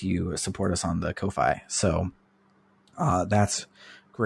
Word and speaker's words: Ko-fi: our uh socials and a link to our Kofi as I've learned is how it's pronounced and I don't like it it's Kofi I don't like it I don't like it